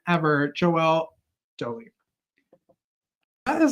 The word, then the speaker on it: Doughly: were to see the way I wrote write Dolly it's spelled doly but I like Dolly because it's